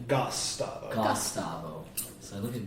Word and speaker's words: Gosstavo: Is it how do you pronounce that first syllable? Gosstavo.